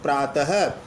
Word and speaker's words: प्रातः: विसर्ग लग जाने पर प्रातः अब विसर्ग सहित रूप को आप प्रात नहीं बोलोगे प्रातः यानी विसर्ग का उच्चारण पथक रूप से होता है यह हिंदी